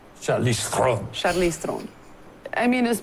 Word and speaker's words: Charlize Theron: Do you actually pronounce your name? Charlize Theron. I much prefer that. That's so much sexier. Say that again. Charlize Theron. Charlize Theron.